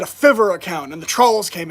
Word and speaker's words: Fiverr: and i said a fiverr account and the trolls came out they said you idiot it's pronounced fiber and i'm like wow you guys are so intelligent a fiverr account and at 15 years